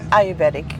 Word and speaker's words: Ayurvedic: Ayurvedic, you're correct.